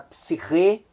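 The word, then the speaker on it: ψυχή: Nós temos a palavra psiche, que é alma, que também ocorre a acentuação na última sílaba.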